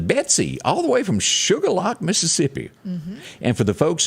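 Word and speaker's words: Shuqualak: this watching the betsy all the way from sugarlock mississippi and for the folks that are watching uh watching us from other parts of the nation it is not spelled sugar lock s-u-g-a-r you would think that yeah it's the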